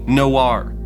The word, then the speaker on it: Knoware: We all called it nowhere, but it's technically Noir.